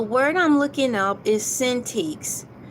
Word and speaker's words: Cintiq: The word I'm looking up is Cintiqs. It's Cintiq. That's how it's phonetically spelled.